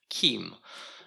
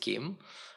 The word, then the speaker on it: CIEM: it they decided that you need to pronounce it like there is a k at the beginning so they actually wrote pronounced Kim um so I'll try to pronounce it Kim um and the way